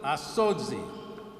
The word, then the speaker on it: Asodzi: I may mispronounce it. Nana Noam will correct me if I do. Asodzi. Asodzi. I got the thumbs up, so I actually did okay.